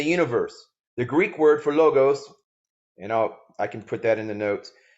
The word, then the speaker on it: logos: I don't know how to speak Greek, but many people pronounce it as logos. However, many linguists pronounce it as logos or lagos, Lawghs.